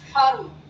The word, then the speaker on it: धर्म: शिरो रेखा से ऊपर लगाते हैं और वर्ण से पहले इसका उच्चारण होता है।